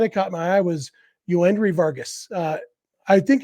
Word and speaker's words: Joendry: and uh I would be inclined to say yendry anyway uh but I also have an autographed baseball card of him that I got uh a year or two ago uh and it's actually spelled with a y y OE n d r y um and so it seems like uh seems like it's definitely yoandry uh it's spelled with